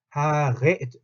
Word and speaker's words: Haare: 하레, 에르, 하레 요 발음, 레, 하레. 그냥 디 하레 하고 다르죠. 하레 하면은 혀가 떨리면서 입 앞쪽에서 하는데 하레 하면 뭐예요? 목이 긁힌 하레, 하레 이렇게 소리가 난다.